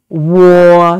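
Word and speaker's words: wǒ: some words with war the first one is war the third tone so which means I or me so here it has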